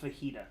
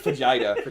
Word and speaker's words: Vegeta: It's pronounced fajita. Oh, excuse me. Yeah, no, it's Vegeta. Vegeta.